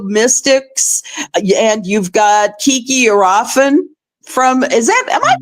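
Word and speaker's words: Kiki Iriafen: You've got the rookie Sonia Citron from the Mystics, and you've got Kiki Arafin from. Am I pronouncing that right? Arafin, yes. Arafin.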